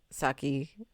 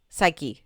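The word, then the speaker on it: Saiki: And I'm like, Skye's Disastrous Life, you know, a play on the anime of Saki. I said his name wrong, didn't I? Psyche.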